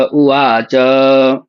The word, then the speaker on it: उवाच: धृतराष्ट्र उ वावाच में भी उ का उच्चारण बहुत सारे लोग नहीं करते हैं। धृतराष्ट्र वाच बोलते हैं तो वाच नहीं है वहां पर उवाच उ भी है। उ को भी पढ़ना है।